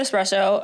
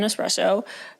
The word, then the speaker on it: espresso: You are one of many people that I know that pronounce it espresso, accidentally. Did I say espresso? Yeah, that's okay. No, it's not a bad thing because I have friends I have friends that are convinced that's how you pronounce it.